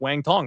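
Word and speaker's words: Wang Cong: And I know it's spelled Kong Wang for those of us who are white, but it's pronounced Wang Tong, apparently.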